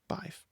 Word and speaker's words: Badb: So that's why I pronounce Badb as Badb, not anything else.